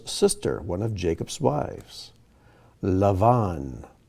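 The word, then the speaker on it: לבן: one of jacob's wives lavon or in our bibles it may be spelled out laban rahel or rachel asav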